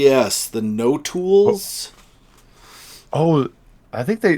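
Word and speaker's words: notules: l e yes the no tools oh I think they the way the audio book was saying it sounded like nodules or n yeah yeah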